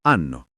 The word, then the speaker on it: hanno: Loro hanno. Attenzione alla N.